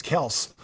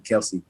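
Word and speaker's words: Kelce: I'm like man like we really been saying his name wrong like for the past six years because I've been in the league six years and I've been calling him Kelsey you know for the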